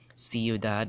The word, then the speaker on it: ciudad: AC you go Kaku but if it's see I see you see or say right it's gonna pronounce that s sound like ciudad will have that same c sound right see the next